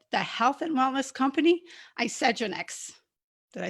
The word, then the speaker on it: Isagenix: pronunciation. All right. Isagenix.